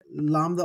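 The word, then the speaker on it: λαμπ: you look at it Lambda off of M it looks like the English word in transliteration lamp and so that's your pneumonic device for this but remember the pronunciation is really lamb all right uh we're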